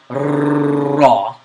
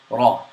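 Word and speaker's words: ر: The ra is pronounced slightly with a vibration of the tongue, but the vibration is not exaggerated. So it's not raw. It's not raw. It's just raw.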